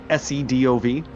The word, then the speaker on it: Sedov: Can you phonetically spell that for me? It's Russian. Sedov.